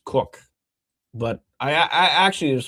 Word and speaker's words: Koch: And then you got Cardinal, Monsignor says he's pronounced Cook, but I actually, it was funny.